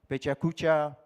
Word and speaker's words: PechaKucha: Pechakucha, in Japanese it's pechakucha. We have a Japanese friend here.